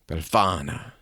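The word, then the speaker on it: Befana: there's a witch that visits you she's called bellana if I'm saying that right but she's an old woman spell it b e LF A N A bana yeah that's better yeah she she spills the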